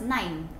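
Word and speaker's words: neun: german word nine mean so it's pronounced as nine but it's a different spelling letters so nine if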